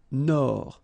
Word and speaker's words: Nord: Amérique du Nord. Final D, not pronounced.